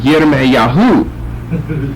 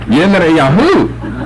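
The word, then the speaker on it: ירמיהו: grasp that if you called him Jeremiah, he'd just keep walking. Because that's not his name, and he wouldn't know anybody named Jeremiah. But if you said Yirmiyahu, then he'd know who you're talking about.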